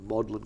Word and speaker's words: Magdalen: could walk around it maudlin College which is the way the British say Magdalene bluntly as it very